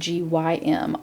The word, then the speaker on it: gym: So at the gym, we've talked about how GEM and GYM are the soft G because it sounds like a J, gym.